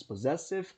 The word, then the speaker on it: possessive: Então perceba que eu tenho, apesar dos dois S's, eu tenho um Zzinho aqui. Significa que nesses dois S's eu tenho o som de Z.